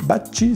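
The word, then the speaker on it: Bacci: ces dérives de alexis bassi baci si on prononce à l'italienne là aussi c'est très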